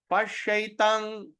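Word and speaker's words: paśyaitāṁ: What happens if you see the M with the dot on top? M dot on top, we're going to pronounce the word M from your nose. So from your nose, if you're going to pronounce, you're going to sound like ing or ng.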